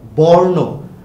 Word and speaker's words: বর্ণ: আমারও ভুল হয়, উচ্চারণটা কিন্তু বর্ণ না, দেখো উচ্চারণটা কিন্তু বর্ণ। দেখো এই যে এখানে রেফ রয়েছে, যেহেতু রেফ রয়েছে তাই এটার উচ্চারণ কিন্তু হবে আসলে বর্ণ।